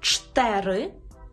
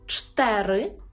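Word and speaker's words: cztery: І останній, сьомий наш секрет, стосується двознака «цз», яке читається як «ч», тверде «ч», «ч», наприклад, у слові «чтери», «чтери», і стосується «ц» з рискою.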